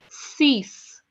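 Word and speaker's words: six: is not same so s i x is cease cease cease okay seven in French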